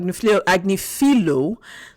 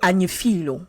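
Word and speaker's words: Agnifilo: com's lawyer Mar AG agilo told um if I'm not wrong it should be anilo because it's um yeah in French GN is pronounced why so it's anilo I'm if I'm not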